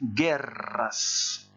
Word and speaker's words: guerras: le double r et qui se prononce guerras alors je sais que c'est une être que certains ont du mal à prononcer vous pouvez peut-être profiter